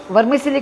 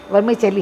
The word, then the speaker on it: vermicelli: वर्मीसेली को कुछ लोग वर्मीचेली भी बोलते हैं। वैसे देखा जाए तो सही प्रोनाउंसिएशन इसका वर्मीचेली है, तो ज़्यादातर सभी लोग इसे वर्मीसेली बोलते हैं तो जबान में वही पड़ जाता है।